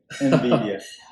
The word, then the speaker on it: NVIDIA: So today I learned something how to pronounce this company name. NVIDIA.